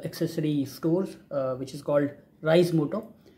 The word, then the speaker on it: Reise Moto: अब इसको नाम को लेके लोग थोड़ा सा प्रोनाउंसिएशन में अलग-अलग तरह से यूज़ करते हैं। कुछ रीज़ मोटो कहता है। कोई राइज़ कुछ रेज़ मोटो बोलते हैं। सो इट इज़ राइज़ मोटो। Actually it's a German word which actually means टू